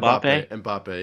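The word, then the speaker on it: Mbappé: a great great match yeah uh Messi versus mappe is that how you pronounce it m mbappe yep that's right he's the he's the new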